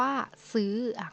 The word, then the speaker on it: ซื้อ: เป็น เสียง โท sentry เช่น คำ ว่า ซื้อ ง่าย ๆ ซื้อ ก็ คือ ซื่อ จื่อ ซื่อ ๆ ทำ มั้ย ฮะ จะ สังเกต ว่า มัน เป็น ไม้ โท แต่ มัน อ่าน ออก เสียง เป็น สิ่ง ตรี เนาะ และ เสียง จัตวา อัน